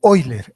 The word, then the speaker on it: Euler: El teorema de Euler, o como dicen los alemanes, el teorema de Euler. EU se lee como hoy en alemán, o se pronuncia como hoy.